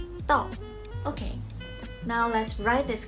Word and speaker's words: 道: Here, 智 clearly suggests the meaning, while the standing knife takes its pronunciation from the original character 刀, guiding us to pronounce our final character 道. 刀, 道.